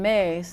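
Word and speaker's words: Myss: Carolyn Mace is an amazing medical intuitive.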